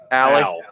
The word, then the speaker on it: Allie: Is it Allie or Ollie? How do you say it? Allie? Allie. I mean, I'm a Hoosier, so it's Allie for sure.